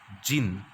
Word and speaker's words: Djinn: Even the clever Djinn, the pronunciation of this is jinn, right?